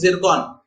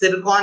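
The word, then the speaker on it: Циркон: इसको वैसे रशियन में TS जिरकॉन ऐसे लिखते हैं बट अगेन प्रोनाउंसिएशन जिरकॉन होता है।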